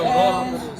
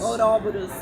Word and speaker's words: Ouroboros: foi Antônio que me falou ontem, Antônio Caldassi, A professor pronúncia é Ouroboros. Ouroboros. Ele Tá. falou que por causa do grego.